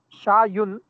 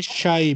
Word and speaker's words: شاي: قهوة sir this is شايون شايون no just say shy because it is a word with ya so the word with ya we usually don't pronounce dhamma with them neither we don't pronounce